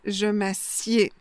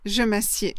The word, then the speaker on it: je m'assieds: Il a deux conjugaisons différentes. Donc, du coup, deux orthographes différentes et deux prononciations différentes. Donc, je m'assois, je m'assieds. Je m'assois, je m'assieds.